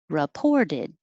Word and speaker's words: reported: folio portfolio 11 reported that re isn't stressed so it will most likely change to ra or ri reported and the t changes to a d 12 sits the important